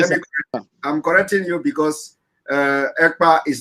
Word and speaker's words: Ekpa: And my name is not Akpan. My name is Ekpa.